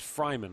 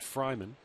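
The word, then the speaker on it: Freiman: him pronounced his name Freeman it's actually pronounced Fryman almost like Travis Fryman the former Indian spelled f re m- an but pronounced Fryman wonder how this guy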